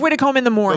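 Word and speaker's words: Widecombe-in-the-Moor: found the website of Widdecombe in the moor which is Widdicombe - in - the - more calm awesome Widdecombe is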